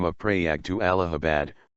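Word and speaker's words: Allahabad: alahi he changed the name of preag to alahabad pronounced as I Abbot in 1583 silver Square rupee of abar laor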